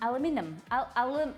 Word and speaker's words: aluminum: your throat I think there is only one eye in aluminum I'm aluminum aluminum then I'll say it like that um Szechuan I wanna oh